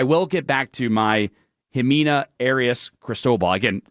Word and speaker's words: Ximena: Ximena is when you see an X in Spanish.